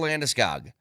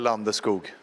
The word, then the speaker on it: Landeskog: anything that anybody has ever known about Gabriel Landeskog. Well, maybe people are confused because they don't actually know who we're talking about, because we've all been saying his name wrong for like 15 years. Gabriel Landeskog.